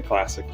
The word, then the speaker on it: ClassiQ: old school classique three I'm assuming you can pronounce it classique has a Q on the end there or you can say classic not so fancy but still good but